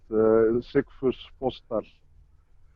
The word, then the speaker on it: Sigfus Fossdal: I've never heard it butchered the way he did the first time around. But Sigfus Fossdal is yeah, something you should be able to copy Okay, with a Sigfus.